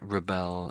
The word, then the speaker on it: rebel: Reb So, reb and then ol, I think, isn't it?